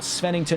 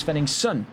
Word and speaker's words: Svenningsson: It is not Svennington, it is Svenningsson.